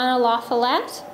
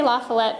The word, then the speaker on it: La Follette: And La Follette, I say La Follette because I grew up in California, and that's how my mother pronounced my last name. But if you were to ask somebody in the Midwest, La Follette is how you would state the name.